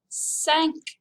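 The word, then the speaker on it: cinq: sounds like meow it's a cat number five sank number six is spelled just like it is in english but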